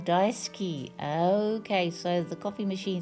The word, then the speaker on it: daisuki: Oh, just FYI, the U is usually almost silent in Japanese when pronouncing daisuki. Oh, daisuki.